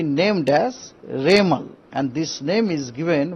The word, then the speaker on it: Remal: बाद उनको नाम होगा रेमल रेमल प्रोसन होगा रेमल उसका स्पेलिंग है आर ई एम ए एल रेमल यह नाम एक्चुअली वमन